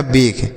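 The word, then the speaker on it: bake: तो बी से ब पढ़ेंगे और के से क पढ़ेंगे, ए से ए की मात्रा पढ़ेंगे क्योंकि लास्ट में ई है, और जो ई है बच्चों इसका उच्चारण नहीं करेंगे तो लिखा गया बेग।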